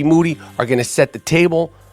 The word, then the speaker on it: Moody: I get G Moody who's the last name rhymes with duty on the phone I